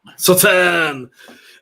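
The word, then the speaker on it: Sauternes: Am I pronouncing it right again? No. Sautern!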